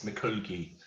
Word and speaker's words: mikulgi: she's really happy okay sliding when you're sliding mikulgi okay so when you're you're um sliding it's mccooky um can you spell that sir yeah m i k u l